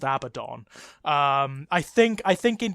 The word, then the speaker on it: Abaddon: original name that he's based on is it's pronounced Abaddon yeah the demonic character from Talmudic mythology is pronounced Abaddon I think I think in Games Workshop terms he is it is officially pronounced abadan because it's a joke yeah yeah it's it's